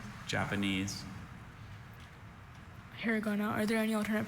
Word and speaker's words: hiragana: Hiragana. Are there any alternate pronunciations?